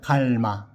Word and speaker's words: 磨: 발음해 보겠습니다. 노땐돌 갈마.